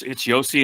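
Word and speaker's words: Josi: It's Yossi and Saros right now.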